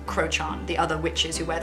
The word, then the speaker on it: Crochan: a little bit but i believe it's pronounced um crochan the other witches who